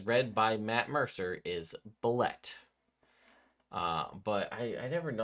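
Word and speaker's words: Bulette: Next up, we have the Bullet. Although all of you old school people are gonna tell me it's pronounced Boulet. Uh, because that's what I hear constantly. I just will remind everyone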